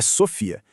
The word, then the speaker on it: Sophia: O detalhe crucial é que já começa pela pronúncia correta da ferramenta, tá? É Sofia.